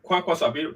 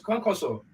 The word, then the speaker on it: Kwankwaso: I think Shakarau and Kwankwaso. That Kwankwaso is the real name, right? I pronounce it well, right?